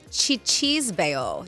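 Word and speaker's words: cicisbeo: It is chichisbeo. Chichisbeo. Chichisbeo. Cisbeo, and it's pronounced like chichisbeo.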